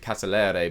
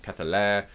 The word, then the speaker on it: Sheldon Catalere: has suggested sheldon catalere i think i've been pronouncing it catalere but i think i looked up earlier and it's catalaire anyway he plays for club